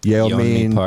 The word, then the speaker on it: Yeonmi Park: Yeonmi Park.